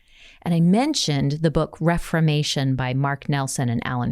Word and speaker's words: Reframation: You'll hear me say reframation, probably because I keep slipping into reframation. And I thought I said it wrong. I thought I was saying it wrong. Right. No, it is Reframation, which is cool because